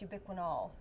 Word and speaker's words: ubiquinol: form of the CoQ10 I was saying it wrong it's ubiquinol yes okay it means